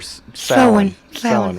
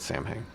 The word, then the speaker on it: Samhain: to the ancient Celtic festival of Samhain or Stanley Cohen was how it's pronounced ax but a lot of people felt Samhain yeah how do you want the Celts who